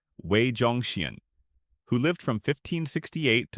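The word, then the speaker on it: 魏忠贤: Wei Zhongxian, pronounced Wei Zhongxian, who lived from 1568 to 1627.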